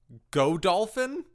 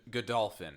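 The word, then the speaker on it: Godolphin: to a fictional town called go dolphin good good dolphin yeah go dolphins how they pronounce it but it is it's spelled go dolphin and when we first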